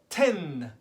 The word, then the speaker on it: tin: this sign and that sign is called ten as in TI n 10 but the N signed you kind of pronounced it through your your nose and I'm